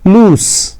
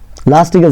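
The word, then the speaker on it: loose: ಇದು ಸಡಿಲ ಎಂಬ ಅರ್ಥ ಇದರ ಪ್ರೊನೌನ್ಸಿಯೇಷನ್ ಲೂಸ್ ಲಾಸ್ಟ್ಗೆ zಡ ಅಂತ ಉಚ್ಚಾರಣೆ ಬರಲ್ಲ ಎಸ್ ಅಂತ ಉಚ್ಚಾರಣೆ ಬರುತ್ತೆ ಲೂಸ್ ಇದು ಲೂಸ್ ಇದು ಲೂಸ್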